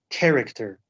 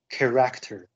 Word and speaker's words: character: students it is pronounced character not character the emphasis is on the first syllable um so this is